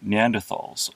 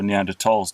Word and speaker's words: Neanderthal: These were created by Neanderthals, or Neanderthals to use the correct pronunciation.